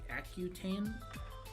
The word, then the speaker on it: Accutane: Accutane.